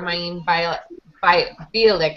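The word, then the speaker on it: Mayim Bialik: Parsons used his Emmy morning to stump not for himself or co-star Maeve Bielik, I think is how you say her name, who picked up her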